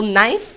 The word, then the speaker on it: knife: For example knife. We all knife, but we know that the K is silent and it was pronounced so this chiving bow sounds alter the way English words were pronounced.